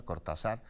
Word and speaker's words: Cortazar: carretera eh cortazar Jaral del Progreso así se pronuncia cortazar Pues fue intimidado el convoy en El que